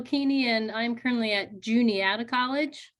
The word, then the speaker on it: Juniata: and I'm currently at Juniata College that's the one that often gets pronounced Juanita but it's Junior out of college in central Pennsylvania we